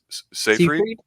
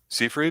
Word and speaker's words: Seyfried: How do you say it? Seyfried? Seafried? I think it's Yeah, Seyfried.